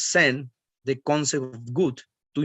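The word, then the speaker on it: 善: is change of continuity the second kanji we pronounce sen the concept of good to improve benefits and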